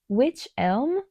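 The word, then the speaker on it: wych elm: Uh, and the color is witch elm. Like the witch white witch. It's spelled wy c.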